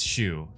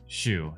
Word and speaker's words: Shu: Doc Shu. It's Shu. Shu. That's what it is.